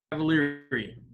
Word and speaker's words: Cavaliere: know and his last name's cavalieri or cavalieri i'm not 100 sure so i would love to know at this point how do you say your last name cavalieri great to be here